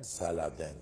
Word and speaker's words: Saladin: Saladin ismine ekleyen Saladin diye telaffuz ediliyor.